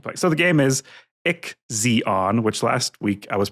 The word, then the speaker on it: IXION: So the game is Ick Zeon, which last week I was pronouncing Zion, which I still say Zion in my head.